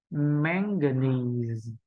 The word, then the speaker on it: manganese: thể đọc được là manganese, manganese. Đó, được không ạ? Manganese, manganese. Nhớ là tất cả hai âm phía sau là âm không nhấn trọng âm, đúng không ạ?